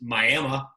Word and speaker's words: Miami: She's originally from Miami, although it's pronounced Miami.